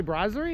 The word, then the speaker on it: brasserie: Did you say brasserie? Is that how you say it? It's French. Brasserie? Brasserie. Brazier? It wasn't a brazier. We didn't need it a brazier. No, no brazier. It was a brasserie.